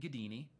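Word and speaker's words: Gaddini: my name is david gadini it is not a common name so you will find me quickly all right um last name is spelled g-a-d-d-i-n-i pronounced gadini think houdini but all right um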